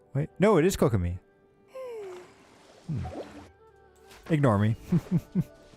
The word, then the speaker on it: Kokomi: me or why do I keep saying her name wrong it's uh Kagome wait no it is kokomi ignore me okay and then we've got